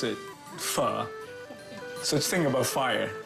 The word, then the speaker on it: pho: Anything you can get out of this is pronounce it pho. So just think about fire. Okay. And in French. Fur. What is it? It's fa. I know it's not faux.